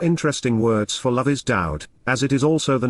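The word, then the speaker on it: דוד: There is no V in ancient Hebrew, and as we have discussed, the Hebrew Y is pronounced Ow.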